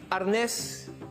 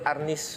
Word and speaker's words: arnis: the term for arnis arness is the spanish term from which the word arnis was derived that's the tagalog pronunciation of arnes escrima is the more